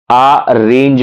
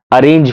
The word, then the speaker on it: arange: Available हैं, जैसे एक आ रेंज फंक्शन मौजूद है. तो आप इसे गलत तरीके से ना पढ़ें कि अरेंज function. No, इट्स नॉट अरेंज, इट्स आ रेंज. आप स्पेलिंग पढ़ लीजिए, इट्स ARANGE.